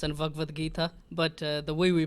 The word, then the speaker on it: Bhagavad Gita: It's Upanishads and Bhagavad Gita, but the way we pronounce it in our country will be different than how people pronounce it in the South Indian.